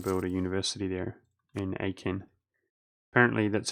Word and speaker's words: Aachen: I'm going to build a university there in Aachen. Apparently, that's how you say Aachen, so I'm going to try to pronounce that correctly from now on.